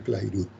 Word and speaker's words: Clairaut: Se escribe Clairaut, pero se pronuncia Clairaut.